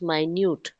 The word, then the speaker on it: minute: between the two surfaces now the pronunciation the pronunciation changes according to the context now here what you said was right m i n u t is minute right you agree with me am i and you t is minute but here contextually that minute will not fit so the pronunciation changes it becomes minute okay okay ma'am rough